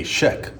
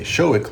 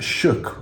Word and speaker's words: Schoeck: people say it, like news outlets, they say Sheekch. Some people will say shik like I did, but then I plug it into Google and Google tells me it's pronounced shook or shook if you're going to use it